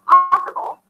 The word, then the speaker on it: possible: For example, in the word possible, the stress falls on the first syllable.